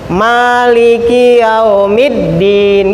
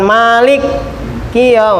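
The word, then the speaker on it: مالك يوم الدين: Lipi Maliki dengan menetapkan dengan menetapkan alifnya 8 Malik Manya panjangin eyak Maknya panjangin meliki itu bacanya Pak Juan Malik bukan begitu Malikiyaumiddin gitu Malik hidup India Malikiyaumiddin bukan Malik Qiyam Al Malikul jadi ada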